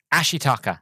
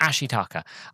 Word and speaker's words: Ashitaka: Ashitaka. That was it. That's how they pronounce it. Ashitaka.